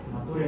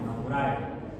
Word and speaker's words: Naturae: Nature no, Naturae. Luego se pronuncia Naturae, Sistema Naturae.